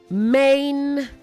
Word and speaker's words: maintain: Also say maintain, not maintain.